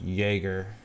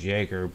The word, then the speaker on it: Jaeger: dance out with them I'm gonna say this guy's name is pronounced Jaeger that j-a-e is Jager Jaeger bull that's how I pronounce it but uh he